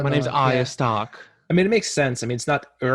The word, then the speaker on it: Stark: Yeah, it's It's not Stork. Stork. It's not Stork. It's Arya Stark.